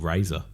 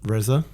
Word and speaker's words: Reza: So there's this bloke called Razor. Yes. Yeah, I've called him Razor. Reza?